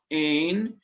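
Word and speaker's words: ἦν: Hutos, this one, it means, hutos ein en arche pros ton theon. And did you notice the difference in pronunciation between ein and en, eta and epsilon?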